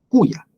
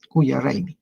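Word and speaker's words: Coya: raymi de la culla escribe muchas veces como colla no pero la pronunciación es más antigua como cuya cuya y el solsticio de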